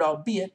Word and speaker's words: albeit: and lighten your anxiety the archaic word albeit does not rhyme with eight you'll see it with